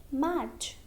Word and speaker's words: match: For example, match. Here, letter T is before CH. Letter T is silent.